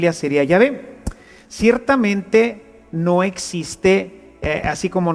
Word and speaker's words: Yahvé: De manera que yo soy el que soy, se pronunciaría o se diría Yahvé.